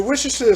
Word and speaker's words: Worcestershire: And this is the Worcestershire sauce, or Worcester sauce, however you want to pronounce it, depending on where you're from.